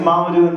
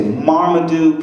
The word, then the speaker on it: Mamoudou: sucks to have because no one knows how to say it correctly it sucks because it was a Marmaduke people say Martin need it's weird it